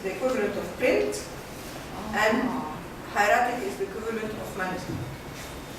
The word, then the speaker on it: hieratic: And the language from hieroglyphic to hieratic, is that how you say it?